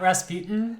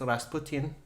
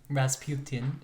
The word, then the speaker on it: Rasputin: say it it's not Rasputin the correct Russian pronunciation is Rasputin Rasputin okay well I'm not